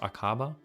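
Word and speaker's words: Aqaba: with Israel after the initial War right it's pronounced akaba so treaty con the Egypt was signed on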